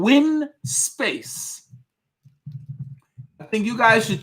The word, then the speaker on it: Winspace: It's called windspace.cc. I'm going to put the link here for the wheel that he had in his video. That's the Wind Space. It's spelled without the D, Rex. It's WINSPACE.